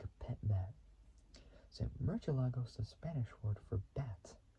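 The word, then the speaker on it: Murciélago: So in the Castilian Spanish, spoken in most of Spain, the word's pronounced with a voiceless dental fricative. So fricative, which is a type of consonantal sound used in some spoken languages. So with a voiceless dental fricative. However, the Italian automaker often uses both the Southern Spanish and Latin American, Latin American Spanish, Latin American Spanish pronunciation with an S sound, so like with a sound technically.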